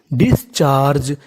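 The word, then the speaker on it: discharge: सी एच ए इसे पढ़ेंगे च। और आगे आर जी ई तो मीनिंग बनी डिस्चार्ज। यहां पे आखिरी में ई है तो इ का उच्चारण नहीं करना।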